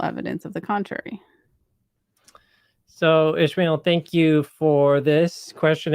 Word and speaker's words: Ishmael: So, how do you pronounce Ishmael? this? Okay, it is Ishmael.